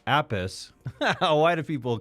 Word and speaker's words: Appice: There's Carmine Appice, Appice. Why do people call him that? And then there's Vinny Appice. They're two brothers with the same last name, and they both pronounce their last name differently.